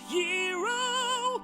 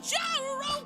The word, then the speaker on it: gyro: He's it- going to get a gyro, although it's technically pronounced hero. Although I still wanna call it a gyro, cause it sounds cooler.